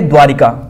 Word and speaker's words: द्वारका: द्वारका और एक है द्वारिका क्या है द्वारिका तो कौन सा यह गलत है यह सही है क्योंकि दोस्तों जो ई की मात्रा भी अनावश्यक रूप से द्वारका उच्चारण सही है द्वारिका नहीं द्वारका स्थित द्वारिकाधीश करना द्वार